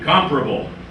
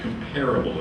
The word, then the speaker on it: comparable: same place okay see comparable notice the stress on the first syllable place it is not comparable it is comfortable right